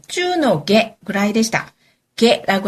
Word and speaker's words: 下: 게라고 하는 거. 아래 하자를요. 시다라고도 읽고 뭐 여러 가지 표현이 있는데 이럴 때는 중하일 때는 게라고 읽습니다.